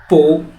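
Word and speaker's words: 不: কি এর চেয়েটা হচ্ছে পু এই যে উচ্চারণটা পু এটা কোন সাধারণ কোন দাগ না এটা একটা সেকেন্ড টোন আর উচ্চারণটা হচ্ছে নিচ থেকে উপর দিকে পু পু থায় থাও এখানে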